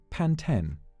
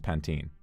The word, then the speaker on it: Pantene: the project random question how do you say pan 10 pan 10.